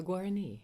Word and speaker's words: Guarani: and if you could help me with the pronunciation of the people that you're talking to. Sure. The Guarani.